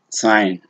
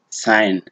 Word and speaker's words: sign: You say sign, sign, but the moment you try to say sign, yeah, then you can see the problem.